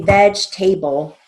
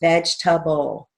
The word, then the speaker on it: vegetable: we don't see veg we don't say veg table right so we're going to keep that as a short a so we're going to write that as v e final j veg come back for t a b l short a it's vegetable not veg table for some reason a